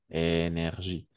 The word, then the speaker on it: NRJ: En fait, il y a une émission radio en France qui s'appelle NRJ. Énergie. Et s'appelle une émission radio. Une émission radio. Oh, une émission radio qui s'appelle Énergie. En effet, une émission radio qui s'appelle Énergie. Et NRJ, n'est-ce pas?